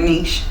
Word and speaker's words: niche: found your Niche your Niche okay and and and France is Niche you said it right and and American is Niche right okay so you found